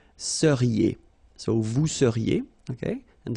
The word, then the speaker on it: seriez: Vous seriez. So here when you've got this EZ at the end, then you get the sound E, seriez.